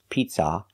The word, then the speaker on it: pizza: not an open Sound a pizza it's not ah like hot and stop it's uh like cup and up pizza it's a closed sound for the second syllable and make sure the stress is on the first syllable pizza not pizza but